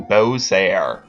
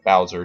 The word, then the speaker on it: Bowser: get through T level to Bose or Bowser depending on how you wish to pronunciate it yes pronunciate it